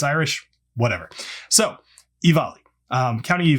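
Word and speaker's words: Offaly: Sorry, I had to look at the notes because it's not at all how it's spelled. It's spelled like this, and it's pronounced Ivali. Now, I get it. It's Irish. Whatever. So, Ivali, County Ivali.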